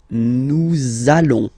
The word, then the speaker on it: allons: link between the words, so it does mean that you will have to pronounce this z sound. Okay, listen to me. Nous allons.